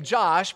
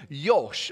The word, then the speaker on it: Josh: So they don't say J. They actually say it like a yo, right? So my name, Josh, quickly became Yosh or Yoshi.